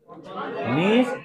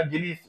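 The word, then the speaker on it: gneiss: अंग्रेजी में जो पढ़ते हो उसको यह जी से स्पेलिंग शुरू होता हुआ मिलेगा। जीनिस। जीनिस ना उसको मिलेगा लेकिन वो है नीश प्रोनाउंसिएशन नीश होता है।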